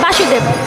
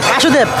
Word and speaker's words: বসুদেব: আর বাবার নাম হচ্ছে বাসুদেব বাসুদেব এটা কিন্তু ভুল হইছে ভালোভাবে বলেন না বাসুদেব বাসুদেব এটা মানে কাছাকাছি গেছে কিন্তু উচ্চারণটা ভুল হইছে বাসুদেব হবে না বসুদেব হবে বসুদেব বাসুদেব